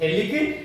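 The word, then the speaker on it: Phthalic: थैलिक acid, P इसमें silent रहेगा।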